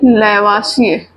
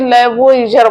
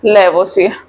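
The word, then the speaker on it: Lavoisier: इसी को कभी कहीं लैवोइजर बोलता है ना। ये कहीं कहीं लिखा रहता है, तो परेशान नहीं होंगे, वो इंग्लिश की स्पेलिंग के अकॉर्डिंग वो लैवोइजर बोल सकते हैं, है ना।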